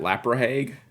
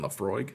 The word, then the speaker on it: Laphroaig: to learn that one you got any of that lap or Hague no you mean Laphroaig sure we don't come